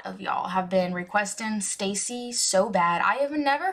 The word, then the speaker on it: STAYC: them i'm pretty sure you pronounce it stacy like stay see okay um this is